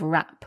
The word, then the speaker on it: wrap: And it's worth mentioning the spelling of rap. We spell it W wr A P. So we've got a silent W at the beginning there.